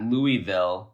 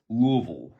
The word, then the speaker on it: Louisville: She says it's not Louisville, it's Louisville.